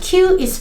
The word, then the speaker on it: qī: In pinyin, Q is pronounced like the English chi sound, but with the tone position closer to the teeth and the lips more spread.